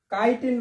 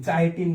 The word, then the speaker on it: chitin: সঠিক উত্তরটা হবে কাইটিন, বানানটা CH দিয়ে হবে, হ্যাঁ, CHITIN, ঠিক আছে। এটা হচ্ছে কাইটিন, চাইটিন না কিন্তু, CHI চাই না, CHI তে কি কাইটিন, ঠিক আছে।